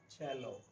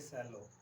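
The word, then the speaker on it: cello: ये ऑलमोस्ट सब लोग इसको गलत बोलते हैं. इसका प्रोनाउंसिएशन है चैलो, ना कि सैलो.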